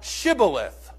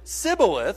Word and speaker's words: shibboleth: to him, "Say now, Shibboleth." But if he pronounced it Sibboleth, for he could not pronounce it correctly, then they seized him and slew him at the fords of the Jordan.